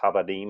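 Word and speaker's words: עבדים: And so, as a company, we try to honor him because Avadam is pronounced Havadim in Hebrew.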